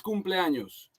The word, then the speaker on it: cumpleaños: Feliz cumpleaños. Feliz cumpleaños. Cumpleaños. Don't say anos. Cumpleaños. That rhymes with Thanos, and anos in Spanish is the booty hole.